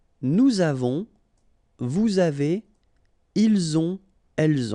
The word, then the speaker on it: avons: j'ai, tu as, il a, elle a, nous avons, vous avez, ils ont, elles ont. Okay, so j'ai, tu as, final S not pronounced, il a, elle a, nous avons, final